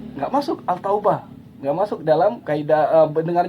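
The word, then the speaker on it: التوبة: tidak enak dengarnya dibaca Contohnya seperti at-taubah Al Taubah tidak enak ini bacanya dan orang tidak pernah membaca al-taubah pasti at-taubah ya dan selanjutnya sekali lagi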